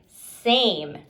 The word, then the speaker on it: same: This word is same because there is a magic E and the A is saying its long name A.